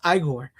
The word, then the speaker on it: Igor: So they told me your name was Igor. No, it's Igor.